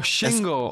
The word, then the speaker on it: Shingle: Single, like single, just pronounced no. In a British way, single. Single, S-H. Oh, Shingle, oh. Yes. Single, but like with a lisp, Shingle.